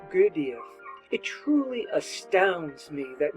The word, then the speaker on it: Gurdjieff: This exercise was given by the great master Gurdjieff, or more correctly pronounced Gurdjieff.